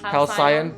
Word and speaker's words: Halcyon: Halcyon. We'll put the correct pronunciation here.